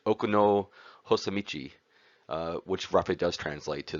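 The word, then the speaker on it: 奥の細道: can see here which would have been originally uh pronounced in the japanese language okuno hosamichi which roughly does translate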